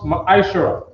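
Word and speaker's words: מעשר: Tithes, which is a command 18 and 21, and Malachi chapter 3 from verse 8 to 10, means tenth in the Hebrew and is pronounced Ma'ashara.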